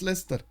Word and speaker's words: Leicester: city how do how why is it pronounced Lester how is this Leicester when it has an eye over there I don't know man